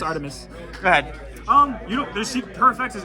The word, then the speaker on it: Artemis: I'm pretty sure they pronounce it Armides. Artemis. All right, it's Artemis.